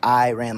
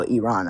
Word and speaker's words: Iran: They're saying I'm saying Iran, like my eyeball. It's Iran. Like, oh, Iran.